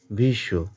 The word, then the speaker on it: ভীষ্ম: পুরুষতহ শ্লোকটির বক্তা হলেন ভীষ্ম ভীষ্ম টাকে আমরা দীর্ঘ করব ভি দীর্ঘস্বর ভিশ দীর্ঘ